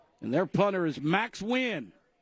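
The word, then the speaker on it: Nguyen: And their punter is Max Win. How you spell that, Allan?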